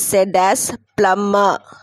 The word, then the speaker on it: plumber: The word plumber is said as plumber. The letter B is silent, okay? You should not pronounce the word. Pronounce the letter B. Plumber, plumber, okay?